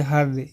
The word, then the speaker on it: her: जैसे देखिए HER, इसको क्या पढ़ेंगे, हर। इसको क्या पढ़ेंगे, हर। हेयर नहीं पढ़ेंगे, इसको हर पढ़ेंगे।